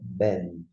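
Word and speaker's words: בן: B com E, B. Com N no final, Ben.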